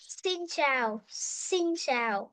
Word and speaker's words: xin chào: xin chào Xin chào.